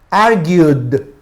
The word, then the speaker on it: argued: Y cuando pronuncio argue, ahí hay un diptongo, ¿ok? Ahí hay un diptongo, IU. Por lo tanto, se pronuncia como D.